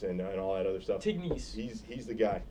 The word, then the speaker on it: Tignes: Tignes. He's the guy. Teens, it sounds.